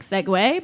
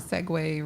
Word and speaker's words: segue: won your Seki anything it sounds like segue but that doesn't it doesn't sound risque no it doesn't yeah a segue rhymes with risque her favorite ice cream